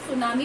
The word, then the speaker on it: tsunami: T silent over here। सुनामी पढ़ेंगे, T silent है।